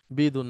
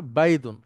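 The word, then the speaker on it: بيض: বাইদুন sorry ভুল বলছিলাম। বিদুন না বাইদুন তো বাইদুনের সাথে আবিয়াদের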